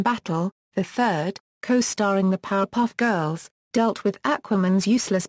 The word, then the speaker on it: Powerpuff: When the Powerpuff Girls came crashing in, Luthor mispronounced their collective name as the Powderpuff Girls, annoying the Powerpuff Girls and causing them to angrily correct him, "It's Powerpuff. No D."